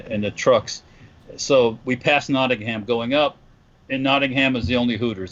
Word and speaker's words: Nottingham: park and I know I am no no Nottingham yeah no and yeah yeah you can't pronounce the a that much knowing him good